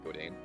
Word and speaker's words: Godin: A lot of people, it's spelled Godin. Mm-hmm. Godin, but I guess French Canadian would say Godin.